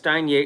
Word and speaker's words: Steinjager: And stuff like with the Steinjager deal, I'm probably going to say it differently. It's Steinjager. It's spelled Steinjager.